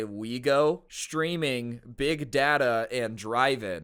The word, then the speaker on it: Ouigo: It highlighted terms that include the train operator SNCF's brand Ouigo, pronounced Ouigo, along with the straightforward imports such as big data and drive-in.